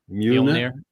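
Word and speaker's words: Mjölnir: How do you pronounce it again? Mjolnir.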